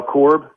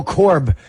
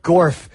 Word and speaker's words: Corb: or is that Jeff no Corb oh Corb he wrote gorf like what is this a mythical creature hi hi cor no it's Corb KC o RB Brock spell backwards I've had